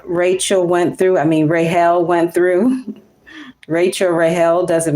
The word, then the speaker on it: Rachel: You know this woman as Rachel, but her name was actually Rael. cuz the C is silent in the Hebrew language.